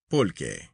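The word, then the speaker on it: pulque: From this century plant or cacti, the Mexicans make their beer, which they call pul, pronounced pul.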